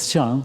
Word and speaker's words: Xiang: And my family name is Xiang. In Chinese, the pronunciation is same to elephant.